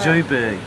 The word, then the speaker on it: Johannesburg: Joburg. I come from Joburg. No, I lived in Cape Town. Johannesburg. What? That's not how it's said. That's how it's said in German.